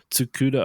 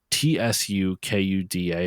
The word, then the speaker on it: Tsukuda: you know licensed out the sg-1000s architecture was tsukuda original and that's spelled t-s-u-k-u-d-a hopefully I pronounce that correct correctly Excuse Me